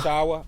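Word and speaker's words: Achiuwa: Precious, how you pronounce it? Achawa.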